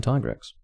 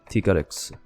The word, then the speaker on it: Tigrex: x and black tigrettes the reason why i changed my pronunciation there was because the pronunciation is because i don't want to be saying tiger x there's tigrex t garix now i might go